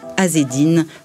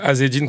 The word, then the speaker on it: Azedine: Moi, on m'appelait Azzedine, comme on m'appelait comme ça à l'école. Alors que c'est Azzedine. Azzedine. Ouais, parce que c'est un E muet, mais bon, c'est très...